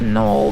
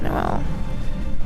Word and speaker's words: Noel: Well, Noel with Christmas, and then his name in the U.S. version is pronounced Noel, though. Like I think it's just the Japanese version that it's Noel.